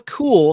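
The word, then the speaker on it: Kuehl: the actress's name is Sheila cool spelled with a K KU HL and she played Zelda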